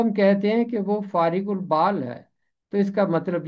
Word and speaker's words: فارغ البال: پہلا باب اس کی 32ویں آیت۔ اس کا تلفظ ہے فارغ البال، فارغ البال۔ نادانوں کی برگشتگی ان کو قتل